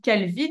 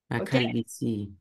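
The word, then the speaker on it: calvitie: a l V e alors toi tu dis Calvi du coup mais tu oublies juste quelque chose à la fin c'est pas Calvi c'est Calvi si calvici Cal viici et ça s'écrit comme si tu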